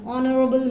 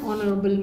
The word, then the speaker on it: honorable: vowel letter beginning an honorable man it is always an honorable man why because the letter H is silent so it begins with